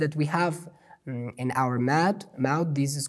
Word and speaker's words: ح: Alhamdu, alhamdu, and then we have ha, hamiduna, hamiduna. In every word of Holy Quran that we have this letter ha, we have to pronounce it ha, ha.